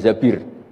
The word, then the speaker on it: Zabir: nikah sama Abdurrahman bin Zabir. Di hadis ini bukan bacanya bukan Zubair tapi Zabir.